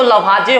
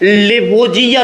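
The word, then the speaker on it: Lavoisier: इसका प्रोनाउंसिएशन 2 प्रकार से होता है। हिंदी में अगर कीजिएगा तो लवाजे होगा, अगर इंग्लिश में करते हैं तो इसी चीज का नाम जो है लेवोजियर हो जाता है।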